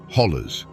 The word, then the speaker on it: hollow: They are ancient eroded walls that create a labyrinth of valleys, ridges, and hollows, or as the locals say, hollers.